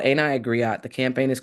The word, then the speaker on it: griot: It is pronounced griot in French.